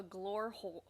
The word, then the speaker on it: Glore: how did you not just call it the Glore hole? I don't understand. Glore hole. The E is silent.